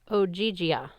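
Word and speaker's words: Ogygia: in o o oia she pronounced it like ogia okay is that near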